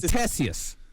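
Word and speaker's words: Ctesias: how to pronounce that it's uh tessius it's tessius tessius why you put a c in there why is it why is there a big c at the top of it he's just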